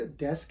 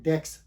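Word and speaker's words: desk: तो क्या इसको ये एक्चुअल वर्ड डेस्क है, इसको क्या कह देते हैं, डेक्स। तो ये डेस्क नहीं होता, ये एक्चुअल वर्ड डेस्क है। तो जब भी इसको बोला जाए, इसको प्रोनाउंस किया जाए, तो इसको हमेशा डेस्क ही प्रोनाउंस किया जाए।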